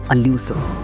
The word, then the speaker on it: illusive: इस वर्ड का सही प्रोनाउंसिएशन होता है एल्यूसिव।